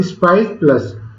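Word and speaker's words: SPICe+: न्यू web form का मतलब स्पाइस प्लस, pronounced स्पाइस प्लस, जिसका नाम क्या है? स्पाइस और प्लस का सिंबल है, लेकिन हम इसको बोलते क्या है? प्रोनाउंस किया जाता है स्पाइस PLUS प्लस।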